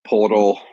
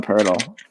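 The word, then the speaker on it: Poeltl: Yeah, no, I saw it was like Podol from Toronto, a couple other spots. Pirtle, actually, if you can believe that. You pronounce that one Pirtle.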